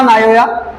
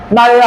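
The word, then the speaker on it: Naoya: Writer है जी Shiga नायोया। नोया नहीं सर, नोया नहीं पढ़िएगा, ऐसे नोया पढ़ सकते हैं, इजी लगता है पढ़ने में। नायोया होता है इसका जापानीज प्रोनाउंसिएशन।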